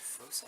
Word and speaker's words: foci: Foci, in English, we pronounce it as a s, right? Circus cycle cent. Remember circus cycle cent from Sing, Spell, Read, and Write? C-I-C-Y-C-E, circus cycle cent. Remember that? So in English, it's with a soft C. In Latin, it's with a ch sound, right? But we are speaking English here, so we'll go with foci.